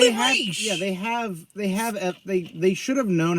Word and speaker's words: Ra's: The fact that I don't really care for Liam Neeson as Ra's al Ghul, and again, it's pronounced Raish, not Raz or Raz.